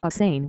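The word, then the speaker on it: Assange: proxy representative of Mr assin he pronounced it with three syllables and Schmidt as the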